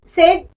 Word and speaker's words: said: Say, said. We have to pronunciate S-E-D, said.